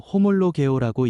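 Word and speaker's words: ὁμολογέω: 시인은 헬라어로 호몰로 개오라고 읽습니다. 같은 말로 고백한다.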